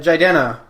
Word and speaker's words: Jidenna: It's yeah, but yeah, the Jidenna. Yeah, sure. Is that how you pronounce that?